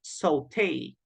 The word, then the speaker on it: sauté: So the pronunciation is sauté, sauté. But this is a word, as I said, that comes from French, but it's also used in English.